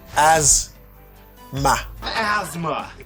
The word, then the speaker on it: asthma: So you say asma. What? What about asthma? put it like a Z sound. You say as and then you have short A sound. A asma that's it.